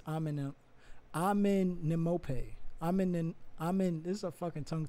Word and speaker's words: Amenemope: Amenemop, right? Or Amenemope. I think it's Amenemope.